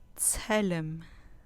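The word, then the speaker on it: צֶלֶם: Tselem, tselem, tselem, con acento en la penúltima sílaba.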